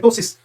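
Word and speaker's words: ptosis: आएगा इसमें टसिस होगा ये प्टोसिस नहीं है पी साइलेंट टसिस और उसके बाद में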